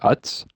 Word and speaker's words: Utz: The UTZ brand. How do you say that? Utz?